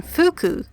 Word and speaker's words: fugu: for his own safety in the shimanoseki region the ancient pronunciation fuku is more commonly used fuku is a homonym